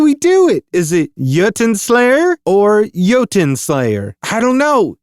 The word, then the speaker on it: Jotunnslayer: It's Jotunnslayer. No, that's not it, is it? How do you say it again? It's Jotunnslayer, Hordes of Hel.